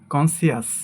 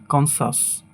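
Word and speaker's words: conscious: এটাকে আমরা বলি কনসিয়াস, বাট এর সঠিক উচ্চারণ হবে কনসাস। কনসাস, কনসাস।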